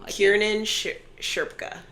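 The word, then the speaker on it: Kiernan Shipka: You know, Kieran Sherpa. That's how you say her name.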